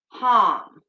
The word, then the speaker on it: ham: the throat chakra is harm so it's spelled h-a-m like ham but it's with a long a so um that